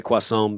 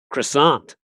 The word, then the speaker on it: croissant: I would say quason because you and I have spent a significant amount of time in France, haven't you? But over here they say croissant.